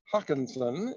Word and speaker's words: Hakonsson: tonight okay so uh hi I'm Hawkinson is my last name but proud works